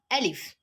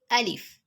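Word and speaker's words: ألف: halk so we have alif alif ah the pronunciation of alif is similar to that of letter a in english and the example of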